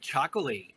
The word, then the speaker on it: Txakoli: and just type in chocolate I mean you will find and it's spelled t-x-a-k-o-l-i exactly and that's the Basque language where T's and X's live next to each other on a regular basis so I think this